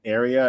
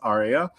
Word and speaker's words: aria: to learn an an area and asked him what that's called and what an area is. And he said that word is pronounced aria uh and it's a song from an opera.